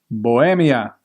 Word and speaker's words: Bohemia: Bohemia. That's how you pronounce it in Spanish.